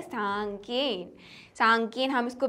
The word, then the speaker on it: साङकेन: सांकेन हम इसको प्रोनाउंस करते हैं।